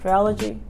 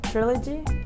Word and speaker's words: trilogy: is the triology or how do you say it triology trilogy trilogy yes is the truth you